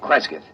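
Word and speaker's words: Cresgyth: instead as um well, I'll I'll spell it. C R E S G Y T H. Kreskith.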